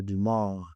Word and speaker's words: Dumas: It's Dumas. Dumas. Yes, Okay. that's a silent. Okay. It's a French name.